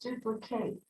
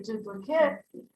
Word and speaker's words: duplicate: Okay, so it can be pronounced duplicate. Then it's a verb. But if we say duplicate, it's a noun.